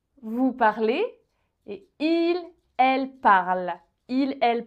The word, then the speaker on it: parle: parlez et il elle parle il elle parle alors attention avec il elle parle il ne faut pas prononcer cette terminaison en fait aucune lettre il elle parle est-ce